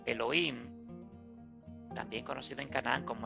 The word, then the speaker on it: Elohim: Elohim, todavía hasta el día de hoy se pronuncia Elohim, pero que no correspondía a Yahvé, sino a otro dios o a otra deidad.